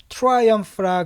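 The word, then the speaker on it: triumph: 그러니까 I만 집어넣고 P에다 H 붙이면은 PH는 보통 F 발음이 되죠. 그래서 이렇게 하시면 되겠습니다. 자,는 뭐냐면 승리예요. 승리. 그죠? 큰 승리를 갖다가 트라이엄프라 그럽니다.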